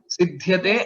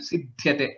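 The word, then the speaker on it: सिध्यते: Yeah, pronunciation part of this will be like dhyana word is there, right? Like that. Sidhyate, sidhyate, sidhyate. There is no one more dvitva, one more double pronunciation in this case.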